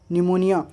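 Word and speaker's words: pneumonia: उसी तरह से यहाँ पे निमेटिक, साइकोलॉजी, साइकिक, शाम, निमोनिया, स्यूडोसाइंस, साइकार्टिस्ट, तो इन सब में हम लोग देख सकते हैं कि पी के बाद एस टी या एन आ जाएगा तो पी साइलेंट हो जाएगा।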